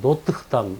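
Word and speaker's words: Notre-Dame: 우리 뭐 찾아보면 노트르담이라고 돼 있지만 프랑스 발음 들어보면 뭐 노트담 뭐 이렇게 R 발음을 흘러내서 그냥 노트담 뭐 이렇게 내죠.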